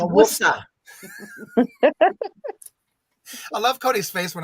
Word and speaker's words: Worcester: But I'm more into the Worcester County. Worcester. Yeah. Worcester. You gotta say it right, I know how to say it. Worcester. It's Worcester.